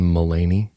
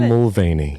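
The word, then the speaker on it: Mulaney: sorry not sorry uh John milany oh um I was reading there's a v in there that's the most Cindy bird will thing ever to be likey KY will mispronounce a name John mulany I love it and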